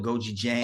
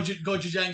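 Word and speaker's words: gochujang: uh it's it's Korean I always say it wrong man it's like I call it Goji Jang oh GOI Goji Jang so yeah the hot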